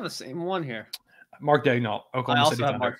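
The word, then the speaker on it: Daigneault: we might have the same one here Mark dnal Oklahom Mark dull as my pick there we go good pronunciation by the way people do not know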